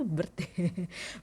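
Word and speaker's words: Byrd: Kalau udah kalian, aduh aku masih pengen branch branch, kalian bisa ke bird B Y R D. Bir gimana sih tulisannya ya? Bird. be kalau gua enggak salah itu bird bacanya.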